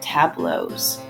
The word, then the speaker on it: tableau: and today we're going to be talking about tableaus so yes this word looks a little crazy to pronounce but it's actually pronounced tableau hello and